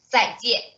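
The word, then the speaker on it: 再见: 再见.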